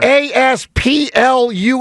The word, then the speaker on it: Asplundh: It's spelled ASPLUNDH. I think it is phonetic on the sheet. I think that's pretty phonetic. All right, I don't know what else you would do. Asplund. Just don't say that it? huh. Don't say the H part.